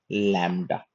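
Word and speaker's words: lambda: तो जो शुरू में ये एल है जो ल का उच्चारण है दैट इज लैम्ब्डा।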